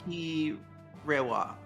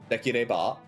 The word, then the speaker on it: できれば: So, Deki Rewa. dekireba.